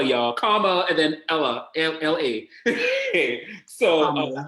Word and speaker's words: Kamala: It is pronounced Kamala, y'all. Kamala and then Ella, L-A.